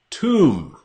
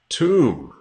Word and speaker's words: tomb: Tomb. Tomb. This word has a silent B.